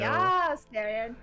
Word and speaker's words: Yasterian: Oh, that is not what I was going for, but he would be a Yasterian, I think. Yeah, there we go. Yasterian. And you gotta say it like that.